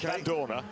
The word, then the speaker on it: Vandoorne: Every Belgian I talk to tells me you pronounce the E at the end in exactly the same way that you don't when you drink Lef. Right, So okay. it's Van Dorn and left.